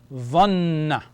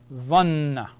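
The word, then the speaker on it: ظَنَّ: Dha with the noon with the shadda. Dhanna. Dhanna.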